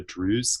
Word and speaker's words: Druze: So both my parents are Lebanese, and I have roots in the Druze community, which is spelled Druze.